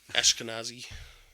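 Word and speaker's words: Ashkenazi: the way yeah yeah ashkanazi I don't know how to say it properly so I'm not no that that's how you say it but it has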